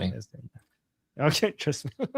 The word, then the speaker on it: Yasmin: And Princess Jasmine? Yasmin. Yasmin. Exactly. I'll skip on that one. I know that one. Trust me. Yasmin.